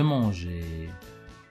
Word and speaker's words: mangeais: véritables marges et le on ajoute toujours un e pour prononcer je regarde l'exemple ici manger je mangeais rangé je rangeais en ajouter un e pour